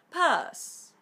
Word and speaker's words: purse: Purse. Purse, que a su vez, en inglés británico, significa cartera. Y en inglés británico no se pronuncia la R. Recordad que se hace la vocal más larga.